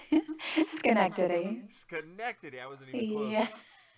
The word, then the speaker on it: Schenectady: Now, just as a brief background, she was born in, wow, that's a name here, Schenectady, New York. Is that how you pronounce it? Schenectady.